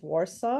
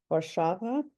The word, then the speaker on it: Warsaw: He started out at the University of Warsaw, or that's how we pronounce it here, or Warszawa.